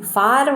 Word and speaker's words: for: For what did you call me? All these ways are wrong. We just have to say it as for. And can you see that FOR, the R sound is silent.